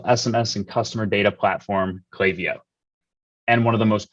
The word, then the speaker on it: Klaviyo: at Klaviyo or Klaviyo, however I feel like pronouncing it today? Klaviyo.